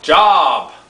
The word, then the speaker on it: Job: Oh, spelled job. Okay, but pronounced Job.